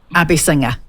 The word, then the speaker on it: Abeysinghe: it oh that's okay look it's a hard name I married into it so I chose it I don't expect everybody to be able to pronounce it but it is a basing her Abby singer good got it I'll